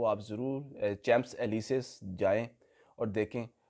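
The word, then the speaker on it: Champs-Élysées: street है यहां की वैसे तो इसकी प्रोनाउंस प्रोनाउंस एशन जो है चम्स एलीसे है लेकिन वहां पर कुछ लोग इसको शनज लीजे भी कहते हैं बहुत ही खूबसूरत और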